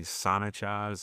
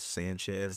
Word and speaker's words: Sonich: It's actually Sonich and I pronounced it as Sanchez the first time I saw it because I just looked at like the first three or four letters like Yeah.